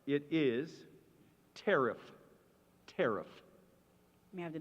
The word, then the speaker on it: tariff: There's a near homonym. It's not tear off. It's tariff.